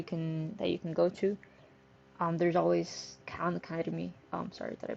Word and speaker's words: Khan Academy: There's always Khan Academy. Sorry, did I pronounce it correctly? Yes, Khan Academy.